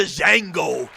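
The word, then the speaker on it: Django: number two was the Jango but the D is silent yeah yeah and I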